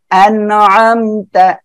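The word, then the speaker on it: أَنْعَمْتَ: যাচ্ছে এটা হয় কি আইন রয়েছে আইনটা গলাটা চেপে উচ্চারণ হবে আনআমতা ঠিক আছে আপু ওকে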